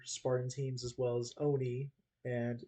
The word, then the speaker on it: ONI: in the show um it's always been pronounced Oni I think it's never been o ni unless you're just like spelling it out loud you know it's just